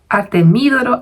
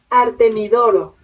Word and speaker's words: Artemidoro: Artemídoro. Artemidoro. No sé. No lleva tilde. Artemí. Artemidoro. Artemidoro.